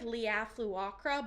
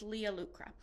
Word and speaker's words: Leah Lucra: It looks like Leah Fluacra, but there was a pronunciation guide. It's Leah Lucra.